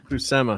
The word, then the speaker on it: Buscema: How do you say Buscema or Buscema? Buscema. The great John Buscema.